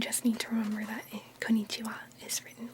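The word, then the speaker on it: こんにちは: This is konnichiwa. Konnichiwa. And as you'll notice, the wa sound is written with a ha.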